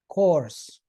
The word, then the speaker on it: course: How do you pronounce this word? Course. Course. Course. If you see curse, it's like you will die. You touch that needle, yes, so you are cursed.